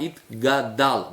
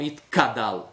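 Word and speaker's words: יתגדל: Na hora de falar itkadal, é o gimel, pronunciar itgadal, não itkadal. Senão a pessoa troca o gimel pelo kuf e aí vai ser outra palavra.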